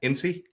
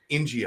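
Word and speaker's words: İnci: Like Angie, but Ng means pearl. But there's no G in there. Turkish, I know. C is like a soft G in Turkish. Oh, Ingy, I apologize.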